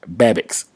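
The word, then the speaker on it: Babicz: shouldn't sleep on is josh babics and that's how you pronounce it b-a-b-i-c-z the i think it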